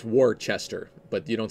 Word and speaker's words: Worcester: worse Esther or you know Worcester Massachusetts it's Worchester but you don't say that you say Worcester